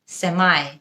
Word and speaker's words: semi: সেমি নাকি সেমাই, দুটোই correct. সেমি হলো ব্রিটিশ উচ্চারণ এবং সেমাই হলো আমেরিকান উচ্চারণ। It's a semicircle, British. It's a semicircle, American.